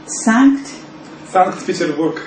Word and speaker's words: Sankt-Peterburg: And how do you say that in Russian? Sankt-Peterburg. Petersburg. Okay.